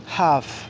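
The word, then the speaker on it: half: পাড়া সি ও ইউ এলডি খুট হচ্ছে পাড়া হাফ এইচ এ এল এফ হাফ হচ্ছে অবক হাফ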